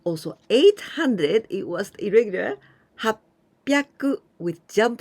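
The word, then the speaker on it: はっぴゃく: this was also the other irregular one the pronunciation has sinned with jump sung sin and also 800 it was irregular happy aku with jump sound and piaku so hassen happy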